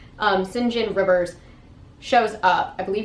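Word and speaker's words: St. John: turned away this man sinjin saint john not sure how to pronounce it my the notes of my book said it was pronounced sinjin but it is spelled saint john um sinjin rivers shows up i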